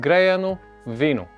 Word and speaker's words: Греяно Вино: make some traditional Bulgarian Greyano Vino. Okay, it's called Greyano Vino. That's how it's pronounced in Bulgarian.